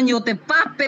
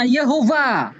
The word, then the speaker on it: Yehova: Berarti bukan YOTPAP, bacanya Yehova.